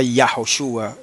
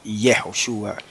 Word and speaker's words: Yahoshua: pronunciar el nombre sagrado se pronunciaba ese nombre como yahwe Y no y y en el caso de Josué y del mesías se pronunciaba yoshua y no yehoshua ni yeshua bueno yeshua así porque